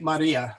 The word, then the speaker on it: Maria: of a good okay let's take Maria there's three syll there the accent oh I didn't put the accent in there did I for shame okay um the I is accented there all right well I'll